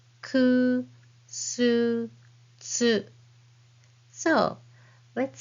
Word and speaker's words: つ: And this is hiragana tsu as in bats and cats. But the shape of your mouth is just like the one with hiragana u and then say tsu.